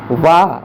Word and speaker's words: वाह: वाह, वाह बकरी वाला, वाह के उच्चारण में ओंठ जुड़ जाते हैं। अगर वाह बोलोगे ना तो दोनों ओंठ जुड़ेंगे, बोल के देख लो। वाह उच्चारण नीचे का ओंठ ऊपर वाले दांत के अगले भाग के निकट पहुंच जाता, लगता नहीं है, निकट पहुंच जाता। बोलो वाह वाह वाह, सही है।